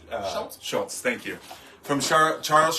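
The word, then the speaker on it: Schulz: So the Peanuts here, which was introduced by Charles, I'm going to say his last name wrong. Schultz?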